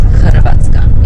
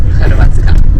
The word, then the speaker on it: Hrvatska: And Zagreb is the capital city of the Republic of Croatia, but we pronounce Hrvatska. In our language we said Hrvatska.